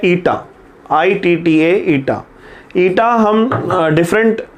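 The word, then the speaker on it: eta: Coefficient of viscosity, और इसका जो सिंबल है ये है इस सिंबल को हम प्रोनाउंस करते हैं ईटा, ITTA, ईटा।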